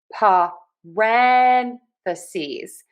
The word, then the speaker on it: parentheses: And we are going to think about syllable stress for this parentheses. So we are going to stress syllable number two.